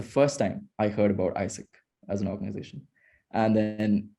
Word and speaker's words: AIESEC: as well and then one corrected me saying that it's isaac not asic then we started talking